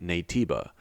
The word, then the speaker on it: Naytiba: So if we listen again, Adam says native in Korean, but to English speakers it sounds like Naytiba, and the ah sound at the end is just an inflection in Korean.